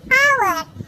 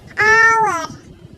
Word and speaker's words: hour: Contohnya seperti an hour. Nah, di sini tulisannya yaitu menggunakan huruf mati H. Tapi kenapa menggunakan an? Karena pengucapannya berbunyi huruf vokal atau huruf hidup. Jadi menggunakan an menjadi an hour, yaitu artinya sejak.